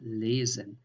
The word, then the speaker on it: lesen: So this is a normal Z, tausend, Reise, lesen.